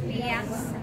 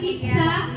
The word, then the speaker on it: Piazza: No, so ang pag-pronounce ana is Piazza. the Piazza. So ito is Piazza. Piazza. No, so di pizza.